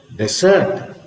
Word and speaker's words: desert: desert and of course when you have the stress on the second C desert desert what does it